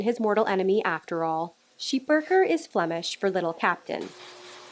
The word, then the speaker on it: Schipperke: Originating in Belgium, the correct pronunciation of their breed is Sheepurker, but North Americans typically refer to them as the Schipperke.